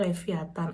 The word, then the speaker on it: Lewiatan: ya teman-teman supermarket lokal namanya lewiatan bacanya leviatan ada Kopiko teman-teman Kalau kayak